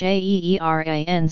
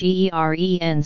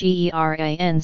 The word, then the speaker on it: Iran: According to this study, the pronunciations slash Eeren slash and slash Eeran slash were almost equally acceptable, while slash Eeren slash was preferred by most panelists participating in the ballot. With regard to the slash Aeeran slash pronunciation, however, more than 70% of the panelists deemed it unacceptable.